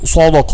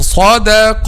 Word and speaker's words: صدق: قل صدق الله, not قل صدق الله. Don't round your lips. قل صدق الله.